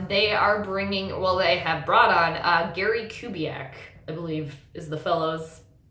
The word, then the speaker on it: Kubiak: They have brought on Gary Kubiak, I believe is the fellow's name, the correct pronunciation, Kubiak.